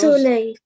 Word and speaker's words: soleil: Okay, Soleil. soleil. L is pronounced because Soleil. soleil, because L at the end is pronounced.